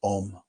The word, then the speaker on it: om: smaller ah just you just open your mouth and ah is what comes out and when you start to close your mouth becomes o and when your mouth closes completely M oh and those